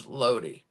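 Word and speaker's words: Lodi: lo lo okay um it's Loi New Jersey but the wrestler is loadie keeping our ey forun yeah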